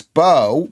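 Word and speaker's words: Beu: Am I pronouncing your name right? Bo, B-E-U. Bo. It's good.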